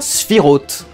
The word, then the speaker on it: Sephiroth: anglaise du mot cloud on ne prononce pas sephiroth selon ses origines judaïque en disant si rod alors désolé mais je vais dire sephiroth à la française dans cette critique de